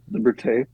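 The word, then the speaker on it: Liberté: Doobie Brothers that came out and new album liberte am I pronouncing that right uh yep that's it liberte we did just a ton of shows I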